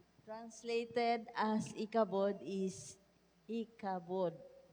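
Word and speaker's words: Ichabod: In 1 Samuel 4: 21 the Hebrew name translated as ikabod is ikabod. Pronunciation.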